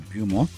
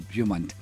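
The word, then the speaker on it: Beaumont: We were speaking to Michael Bum Bumont. I should say the T is pronounced Michael Bumont.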